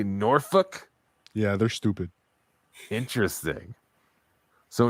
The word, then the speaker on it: Norfolk: Norfolk. Oh, wow. But don't some people say Norfolk? Yeah, they're stupid. Interesting. So in Minnesota, they say Norfolk.